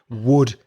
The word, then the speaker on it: wood: And the same pronunciation as WOULD, would you like?